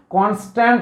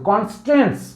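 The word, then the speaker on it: constraints: যদি সেখানে বাধা দেওয়া হয় বা কনস্ট্রেন্টস, উচ্চারণটা ভালো করে করলাম এই কারণে, কনস্ট্যান্ট নয় কিন্তু কনস্ট্রেন্টস, কতগুলো বাধা, বন্ডিং আমি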